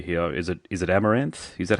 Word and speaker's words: Amaranthe: band name correctly here is it is it amaranth is that how I pronounce the band name yeah perfectly okay amaranth because you've got you you're pretty much you're